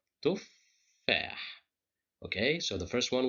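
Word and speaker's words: تفاح: The shadda tells us that this is two letters, two fas. The first fa is controlled by sukun, and the second fa is controlled by fatha. So that's why we pronounce it as tuffah.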